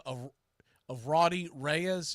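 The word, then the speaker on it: Raudy: was a guy by the name of of Rody Reyes it's spelled r a u d y Rody Reyes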